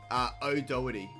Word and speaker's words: O'Doherty: the time, like Doherty, how do you say your second name? O'Doherty. So like... O'Doherty? Yeah, O'Doherty, not like the Doherty part.